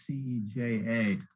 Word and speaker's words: Ceja: okay, I know the J is like an H, so I'm not going to butcher this one up, but it's C-E-J-A.